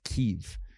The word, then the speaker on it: Kyiv: I've been having trouble getting used to hearing it called Kyiv instead of Kiev. Yes, Kiev is the Russian pronunciation.